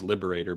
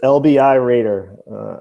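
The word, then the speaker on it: LBI Raider: it's LBIRAIDER. I live in Jersey near Long Beach Island. It's LBI. So Okay, Long Beach I'm a Island. Raider.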